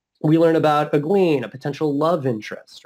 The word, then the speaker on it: Egwene: Like, so for me, it's definitely, I always pronounced it Egwen or like Egwin, like that. But in the audiobook, they pronounce it Egwene.